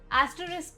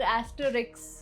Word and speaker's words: asterisk: Asterisk को अक्सर लोग asterisk बोलते हैं, but it's asterisk.